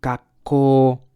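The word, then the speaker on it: 学校: 学校、 Gakko. We gotta follow the the vowels rule, so the O becomes longer. 学校、 And this K is like gak. I don't know. It's like a short interruption.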